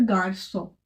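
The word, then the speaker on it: garçon: बट अगर उसके ऊपर हम एक्सेंट लगा देते हैं तो फिर हम इसको स करके प्रोनाउंस करेंगे, इसका प्रोनाउंसिएशन हो जाएगा फिर गार्सो। क्या करेंगे, गार्सो, ठीक है।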